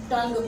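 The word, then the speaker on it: tongue: For example, आपने एक word लिखा है टंग। अगर आप देखें तो उसमें भी आप TU करके नहीं पढ़ते, आप क्या पढ़ते हो? टंग पढ़ते हो।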